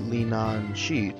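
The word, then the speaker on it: Leanan Sidhe: to go to church you will never pronounce her name right it's pronounced lien on sheet right at this point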